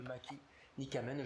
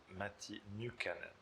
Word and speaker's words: Matti Nykänen: Voilà, le mauvais génie, entre parenthèses, une vie de Matti Nykänen, je le prononce très très mal. Donc, une dernière fois, on va bien le prononcer. Matti Nykänen.